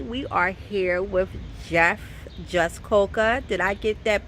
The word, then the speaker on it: Jaskolka: Hi, today we are here with Jeff Jaskolka. Did I get that pronunciation correct?